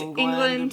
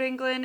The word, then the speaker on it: Englund: story or England story can never say his name right it looks like England I've heard it pronounced but it's England but then I've heard that traditionally it's supposed to be on Glenn but if he pronounces it yeah it's however he pronounces it and I think it's an English I think he says England so yeah we'll go